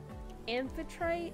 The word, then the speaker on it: Amphitrite: But there's also another way to say her name, which is Amphitrite, but I say Amphitrite.